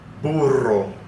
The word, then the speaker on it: burro: And practice saying the double R within a word, okay?